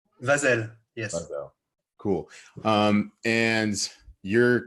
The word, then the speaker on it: Vazel: Vazel? Vazel.